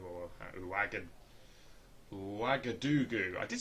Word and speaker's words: Ouagadougou: I've still only done that one flight to Ouagadougou, or Ouagadougou.